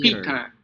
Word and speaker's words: Peter: All right, so the first syllable, they have the same vowel letters, but their sound are actually different. Okay, so first syllable is E, but the other one is the schwa, R, her, her.